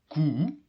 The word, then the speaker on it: koe: U from koe. Koe is a cow. How do you pronounce the U? Well, it's very similar to the U from you. U, that's practically the same as the U.